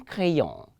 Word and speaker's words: crayon: I told you that the R is a celebrated letter. Anywhere you see it, it has to be well pronounced. So un crayon. Let me say un crayon. Again, un crayon. Crayon. The vibration of the R to the Frenchman is coming from the gullet. And so you have to learn how to pronounce the way the Frenchman pronounces.